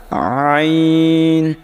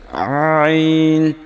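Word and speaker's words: عين: তারপরেরটা আইন আইন আইন কিন্তু বলার সময় গলার একেবারে শেষ ভাগ থেকে আইন উচ্চারণ হবে একেবারে গলার সঙ্গে লাগে আইন এরকম পরেরটা দেখেন তারপরে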